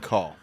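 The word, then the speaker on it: Kaw: uliga Sky Tu Copan and call which is spelled k a w k aw only in Oklahoma then a big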